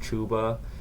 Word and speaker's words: Chuba: the other day uh apparently his name is pronounced chuba but um much yeah